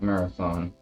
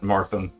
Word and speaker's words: Marathon: Like Marathon. So I have been pronouncing it incorrectly by calling it Marthon.